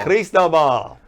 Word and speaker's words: Cristobal: Cristobal.